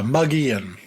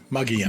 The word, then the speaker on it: Mogollon: Now, is this is this uh rim or ridge How How did you pronounce it again? Mogollon? Yeah, Mogollon. Mogollon.